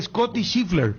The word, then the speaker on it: Scottie Scheffler: Y acá, teacher, se pronuncia Scottie Scheffler. Sí. ¿Estoy pronunciando bien? Sí. Porque se escribe Scottie Scheffler. Entonces, Scottie Scheffler.